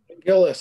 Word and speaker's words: Giles: Giles. However, I'm wrong there too. Gillis.